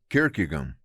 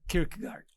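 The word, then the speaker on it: Kierkegaard: É tanto que tem um autor Soren Kirkegan, eu acho que é assim que pronuncia o nome dele. Soren Kirkard.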